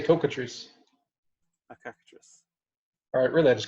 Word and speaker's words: cockatrice: I understand cockatrice decide hey pronounce that yeah that's yeah cockatrice yeah is there another way I don't know I always say cocoa trees characteris alright really I